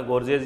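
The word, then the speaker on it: gorges: और इसको कैसे प्रोनाउंस करोगे? है ना? गर्ज या जॉर्जज़ जैसे आप प्रोनाउंस करो इसको स्पेलिंग लिख लो जी ओ आर जी ई एस है ये ठीक है और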